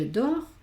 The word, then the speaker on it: dort: En los verbos aquí diríamos dor, la T no se pronuncia.